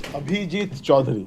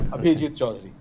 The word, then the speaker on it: Abhijit Choudhury: Let me rectify how you pronounce my name first, you know. It's Abhijit Choudhury. Abhijit? Abhijit Choudhury. I I didn't recognize the J, sorry.